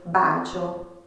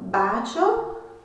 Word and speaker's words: bacio: Por exemplo, uma palavra: beijo, bacio. A sílaba tônica neste caso é o ba. Então, bacio.